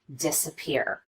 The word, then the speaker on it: disappear: example of secondary stress would be the first syllable in this word disappear we do spend some time on this syllable and we do make the vowel louder and longer but not quite as much as we do on this last syllable the third syllable peer third level of stress